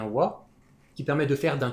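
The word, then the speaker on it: は: la première éant o que l'on écrit avec leilagana mais que l'on prononce bien wa qui permet de faire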